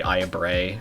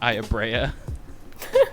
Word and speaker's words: Aya Brea: game, which would be Aya Bray from Parasite Eve. Where fantastic character in the first game. I'm gonna have to stop you right there because we all know the true pronunciation is Aya Brea.